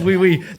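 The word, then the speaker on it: wiwi: Is it wee wee? Yeah, it's wii. W-I-W-I. Fuck yeah. And even then, you'll pronounce it slightly wrong and it'll be like, what, you're not saying yes.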